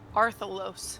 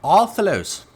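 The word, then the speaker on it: Althalos: time what's your name oh my name's arthos arthos no Aros AOS spell that yeah pretty be common around here but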